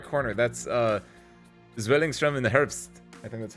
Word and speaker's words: Zwillingstürme im Herbst: That's Zwillingstrom in the Herbst. I think that's how you pronounce it. Spare parts. How do you pronounce it? You pronounce it like Zwillingstürme im Herbst.